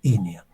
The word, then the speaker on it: iniae: Inia se pronuncia Inia.